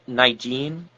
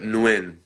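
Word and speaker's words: Nguyen: Dustin Nigen, I I I don't know if I'm pronouncing his name right. Nigene. Uh Nuin. Nuin. Dustin Newin.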